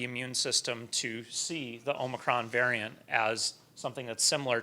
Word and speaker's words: omicron: how to pronounce it it's omicron in the united states if you go to another country they might pronounce it another way and the big question